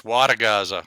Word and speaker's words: Wodogaza: Well, I guess one of my favorite points, Wodogaza. I always tell people my last name, it's only 8 letters, but it's those 4 syllables.